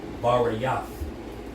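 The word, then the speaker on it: בְּרִית: And it's pronounced Barayath.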